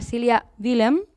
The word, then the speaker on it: Cília Dillem: m'acompanya aquí al costat la Cília Dillem, ho he pronunciat bé, això? Sí, molt bé.